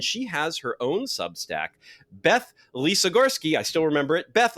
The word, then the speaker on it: Beth Lisogorsky: us a very special guest fellow sub stacker Beth Lisa Gorski we got the the pronunciation right didn't we didn't we there yes